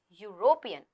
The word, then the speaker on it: European: A European country pronounced like European. Although it starts with a vowel but the sound is of a consonant.